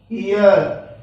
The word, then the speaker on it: heir: जैसे HEIR, ये क्या आएगा? ईयर।